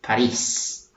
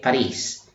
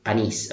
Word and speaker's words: París: And Paris is pronounced in Spanish as París. Okay? París. For Filipinos out there, it's not Panis, okay, Paris, okay.